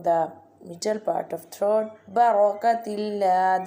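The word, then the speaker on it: بركة الله: Barakatillah, this one ra will be bold because fatah sign is top of the ra.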